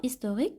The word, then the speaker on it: historique: Le mot historique commence par un H aspiré. Et le H aspiré bloque la liaison. Les mots qui commencent par un H aspiré qui bloque la liaison. العكس ديال le H muet. Le H muet qui خلي لنا la liaison بحال دابا histoire. On dit des histoires. Donc on peut faire la liaison.